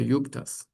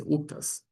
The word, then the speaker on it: uktas: Occasionally still hear yuktas, but it's uktas.